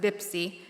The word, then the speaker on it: Pepsi: Pepsi, Pizza Hut, Pampers are all spelled with the Arabic B and can be heard by many pronouncing it as Bipsy, Pizza, and Bambers.